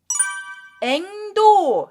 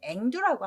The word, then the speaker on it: 앵두: 자, 도 발음이 우리말화 되면 두로 다 바뀝니다. 발음이 불편해서. 지금도 뭐 앵도라고 하시는 분들이 있는데 우리말은 앵두라고 합니다. 그래서 앵도, 앵드나무 앵자가 따로 있고 복숭아나무 도자를 써서 앵도라고 하는데 앵두 맛있죠? 제가 그림 한번 찾아왔습니다. 그래서 앵도가 앵두가 됩니다.